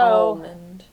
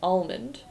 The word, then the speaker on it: almond: So Almond. okay. That's how I pronounce it. Almond. Is Yeah, that not correct? I hate it. Almond. Nope. There's an L in it.